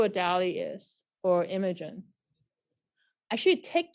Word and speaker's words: DALL-E: DALLE 2, like DALL-E, like the artist, but now it's made by a machine. It's using like Wall-E, right? like Wall-E, yeah. Like Wall-E, but with a D.